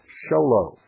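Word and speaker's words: Show Low: that's PO Box 1420 sholo it's spelled just exactly like it sounds folks it's two words show and low and everybody learns those two words very young in life Arizona 85901 that's pbox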